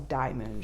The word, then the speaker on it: DIYMoon: the shop that they they do in fact pronounce it Diamond shop so there you go